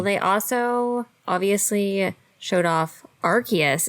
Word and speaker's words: Arceus: Well, they also obviously showed off Arceus is how they were saying it. So yeah, I will admit that I was wrong. I've been saying it wrong last time, and it looks great.